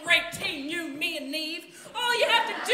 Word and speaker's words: Neve: Call her Neve because it rhymes with conceive.